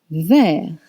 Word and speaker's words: vert: Rouge, rouge, red, rouge, rouge, red, vert, vert, green, vert. Vert is spelled V-E-R-T, and vert becomes verte if the subject is feminine.